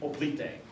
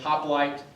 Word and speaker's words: hoplite: the Classical period and the Greek op or we might pronounce it hoplight to save ourselves from trying to speak ancient Greek which we don't actually